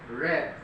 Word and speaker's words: read: to read past tense well red the pronunciation is not green but red red just like the color red no but the spelling is